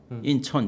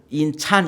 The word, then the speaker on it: 인천: 인천 이렇게 발음해요. 네. 인찬 이렇게 발음하는 사람은 없고 인천 그러니까 외려 잘 됐어요.